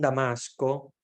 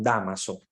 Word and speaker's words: Dámaso: es el nombre equivocado no es San Damasco primero es San Dámaso verdad es importante que aclaremos